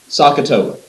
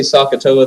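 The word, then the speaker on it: SOHCAHTOA: parts that you really need to write down sakatoa s o h c a h t o a write that down spell it out make sure you know how to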